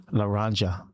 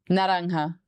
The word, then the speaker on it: Naranja: Laranja? Is that how we pronounce it? Naranja.